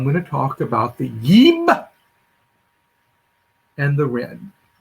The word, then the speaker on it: jb: yib and the ren the yeeb which is spelled in modern egyptology jb which is spelled in mid-century middle the last century topology ib and if you read you've got that damn wallace budge book you got from dover it's spelled a b because they thought it was more like the hebrew word this is always translated